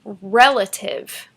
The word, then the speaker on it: relative: The stress is on the first syllable.